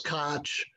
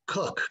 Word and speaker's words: Koch: pronounced his name because i didn't know if it was koch or coke i found out it's actually cook so jim cook uh